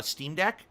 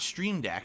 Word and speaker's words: Steam Deck: dollars 20 cents and please stop miss pronouncing streamed uh steam deck not stream deck that's a am i am i saying stream deck it's steam deck it's supposed to be steam deck it's a deck on